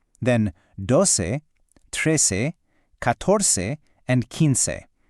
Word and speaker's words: quince: We've got once, think once, then doce, trece, catorce, and quince. That last one, quince, sounds like quince.